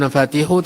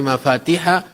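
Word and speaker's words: مفاتيح: Tadi saya keliru membacanya inna minannas mafatiha lil khairi. Ya bukan nafatihu tetapi mafatihah lil khairi.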